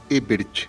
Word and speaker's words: Ebert: As minhas redes sociais, elas são todas iguais, é Ebert, é de navio, Ebert, sem o H do Herbert, né? É Ebert, mesmo assim como se fala.